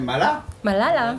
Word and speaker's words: Malala: Et puis, ah, bien sûr, on a depuis ce matin Malala. Malala. Oui. Hein, mais on a dit qu'on prononce pas le A, donc on fait Malal.